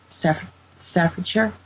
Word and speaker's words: Staffordshire: Staffordshire?